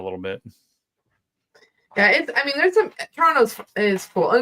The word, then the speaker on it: Toronto: because like we're like Toronto. Like we don't say it like we say it with no T at the end. Take the T out, Toronto. That's why I'm struggling with